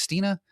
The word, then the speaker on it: Stine: Stina, welcome to CX Passport.